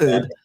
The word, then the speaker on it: herb: There is an H there. It is pronounced. The word is herb. I said herbivore. Herbivore. That's how you pronounce herb.